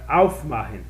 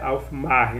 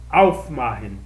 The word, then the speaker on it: aufmachen: Quando você coloca o auf, ela vira a sílaba tônica. Então é aufmachen. Tá bom? Não é aufmachen, não é aufmachen. Então aqui é machen, aufmachen.